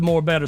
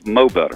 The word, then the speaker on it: Mo Better: and I love the more better song we we really have that hey hey you mispronounced it it's mo better mo better yo okay Anita I